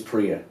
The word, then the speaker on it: Priya: Prior Price. Okay. Did I say her name right? You know what? We'll have to ask her, but I think it's Priya. Oh, Priya Price.